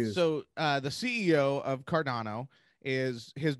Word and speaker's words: Cardano: do with cardon am i saying it right cardano cardano yeah okay is there okay so first off